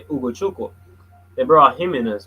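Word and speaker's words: Ugochukwu: Um, yeah, and they brought in this kid, Leslie Oguduchukwe. Oh, God, I think I butchered that. Uguchuk. Yeah, it's actually Uguchukwu.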